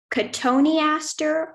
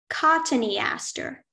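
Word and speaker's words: cotoneaster: pronunciations yes there are it could be pronounced katoniaster or cottony Aster may I have the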